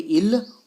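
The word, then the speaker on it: ils: देखो एस की प्रोनाउंसिएशन नहीं होगी, बोलेंगे इल और एल, लेकिन इनको प्रोनाउंस नहीं करेंगे।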